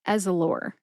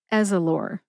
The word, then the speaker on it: Ezallor: Put all 3 syllables together and you get Ezallor. As with Crestor, no syllable is emphasized. So, what you do is you emphasize all three syllables equally.